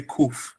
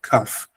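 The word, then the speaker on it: כף: Ashkenazim in the Ashkenazim in Europe, they say kuf, but we say kaf.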